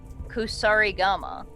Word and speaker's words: Kusarigama: That is a Kusarigama.